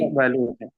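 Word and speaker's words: يقبل: Jadi bukan yukbalu tapi yaqbalu.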